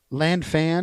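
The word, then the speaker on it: Lan Fan: Land fan, is that how you pronounce it? Lanfan.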